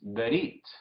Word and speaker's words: berit: Entonces decimos berit, casi como brit, pero es berit, ¿sí?